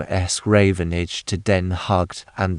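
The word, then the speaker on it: Den Haag: The Dutch have abbreviated the old name es Ravenage to den hugged and they pronounce the name of the capital just as we do the word hog.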